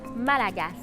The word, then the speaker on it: Malagasy: En fait, on dit Malagasy. Ça s'écrit Malagasy, mais on ne prononce pas la lettre Y dans la dernière syllabe. On prononce par contre la lettre S, Malagasy.